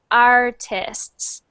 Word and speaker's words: artists: Artists. artist, Artists. artist, Good. Good. And when you see that with the S at the end, make sure you pronounce that S. So artists. artist, Good.